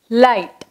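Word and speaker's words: light: First word வந்து லைட், எல் ஐ ஜி ஹெச் டி, லைட்.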